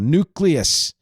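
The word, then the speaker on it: Newcleus: album I almost put that on the diarama nucleus which had jam on it that's spelled NE w cleu s by the way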